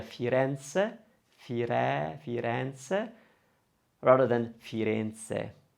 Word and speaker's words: Firenze: one with the a we're probably going to open that one so it's going to sound a lot better to hear firenze fire fireance rather than